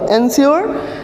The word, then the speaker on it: ensure: इन दोनों का प्रोनाउंसिएशन क्या होगा, सेम होगा। एंश्योर और इसका क्या, इंश्योर।